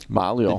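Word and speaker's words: Maglio: then we have tj malio malio g there's no g there's there but it's silence the g is silent it uh he's taking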